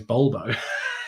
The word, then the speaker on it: Volvo: Chris says English speakers are helped to know that the V is pronounced by a B in Spanish. Volvo is Bulbo, as in the car manufacturer.